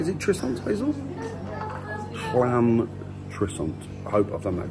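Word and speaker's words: Llantrisant: It's double L, so it's Llan Trissant. Is that right? Is it Trissant, Hazel? Llan Trissant.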